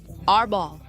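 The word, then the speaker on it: Árbol: Arbol, with an accent on the O.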